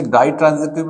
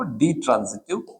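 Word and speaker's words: ditransitive: कई लोग इसे डाई ट्रांजिटिव भी बोलते हैं। लेकिन इसका सही उच्चारण हो गया वो डी ट्रांजिटिव वर्ब।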